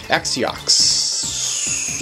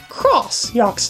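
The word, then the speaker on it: X-Yux: X-yox. Actually, they're not pronounced that way. You'll see. That's an X-yox. I heard this is read as cross-yox, not as X-yox.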